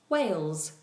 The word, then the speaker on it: Wales: of the UK together, is called Wales, which is exactly the same pronunciation as the huge mammal that lives in the ocean, a whale, but obviously they're spelled differently.